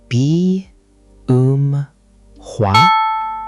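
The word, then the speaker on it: 비음화: B um hua. B um hua. Good effort. The middle part is a bit tricky. B um hua. The um part sounds like um in room.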